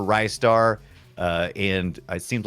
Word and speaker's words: Ristar: big online discussion about is it rystar because uh or is it ristar and how do you say it uh I've I've seen a bunch of people say a bunch of different ways yeah uh and I I prefer Rye star uh and it seems